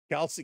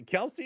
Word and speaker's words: Kelsey: Kelsey. Kelsey is just Kelsey. Right? Kelsey is Kelsey.